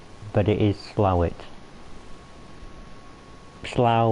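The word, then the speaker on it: Slough: it is slow it slaugh which is another place in england is spell s-l-o-u-g-h which doesn't seem like it is said how it's spelled either but slow it which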